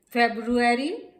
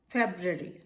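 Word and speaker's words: February: Are silent है। Iron, ion. फेब्रुअरी, फेब्रवरी, फेब्रवरी।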